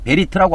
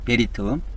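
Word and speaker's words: בְּרִית: 오른쪽에서 왼쪽으로 이렇게 읽는데 베리트라고 합니다. 베리트 이것이 베 이렇게 발음되고요. 리 그다음에 요거 트 이렇게 바르면 됩니다. 베리트 이렇게 바르면 됩니다.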